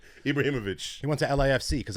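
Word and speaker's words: Ibrahimović: And finally, recently retired, not short of confidence, Zlatan Ibrahimovic. He went to I definitely mispronounced that. Ibrahimovic. Ibrahimovic.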